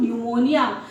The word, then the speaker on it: pneumonia: तो initial stage में silence होता है जब, तो उसे पढ़ते हैं हम न्यूमोनिया।